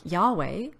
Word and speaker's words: Yahweh: didn't use the name it's not even pronounced Jehovah but something more like Yahweh and they only call